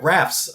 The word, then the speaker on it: Raph: character and uh ra raph's um retro Comics he told us that's how it's pronounced Raph I would love to